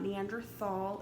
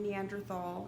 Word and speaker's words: Neanderthal: It has never been Neanderthal, it's Neanderthal. You sometimes will see it spelled with a T, sometimes you'll see it spelled with a TH. It doesn't matter, it's still pronounced in Neanderthal.